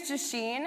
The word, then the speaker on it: Jasheen: My name is Jasheen, and that's pronounced like machine with a J.